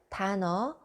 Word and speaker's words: 단어: 단어 means a word. There is a final consonant and the next letter starts 이응. Now you know how to say this.